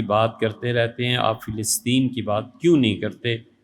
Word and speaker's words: فلسطین: جاتا ہے، فلسطین، فلسطین، اصل تلفظ اس کا فلسطین ہے، فے اور لام کی زیر کے ساتھ، لیکن عوام میں فلسطین ہے، وہ بھی ٹھیک ہے۔ اس پہ صرف باتیں،